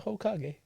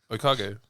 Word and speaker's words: Hokage: You pronounce the H? Do you? I don't. Yeah. Please say it. Okage. Because I think Hokage is disrespectful. Please say it. Okage. He ain't no ho. With an H. Okage. With a H. No, with a silent H.